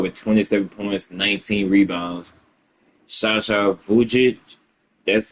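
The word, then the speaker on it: Sasha Vujačić: Shasha Vujich, that's how you say his name.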